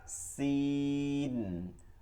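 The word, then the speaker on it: سين: যা এরপরে ফা সিন ফা সিন ফা সিন ফা সিন সা সিন সিন দেখেন থেকে কোন শব্দ আসছে থা কোন শব্দ আসবে না থা কিন্তু সিনের শব্দ আসবে সিন সিন সিন এরপরে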